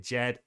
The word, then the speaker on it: DJED: this is from the jed the sable coin jed i keep getting people comments saying it's not to jed the d is silent but neither here nor